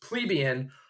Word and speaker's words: plebeian: And if you were not well-off, you were a plebeian, or sometimes it's pronounced plebeian, or sometimes for short, they say plebs.